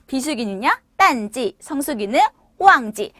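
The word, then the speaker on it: 淡季: 자, 비수기는요, 딴지, 성수기는 호황지. 자, 그럼 여러분들만 가실게요. 자, 성수기는, 그쵸, 비수기는 그렇게 발음을 해주시면 됩니다.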